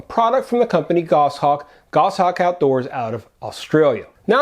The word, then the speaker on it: Goshawk: from the company goshawk gosshawk outdoors out of australia now i'm not sure if that video got more attention because of the actual product or the fact that i mispronounced goss hawk as goshawk regardless many people checked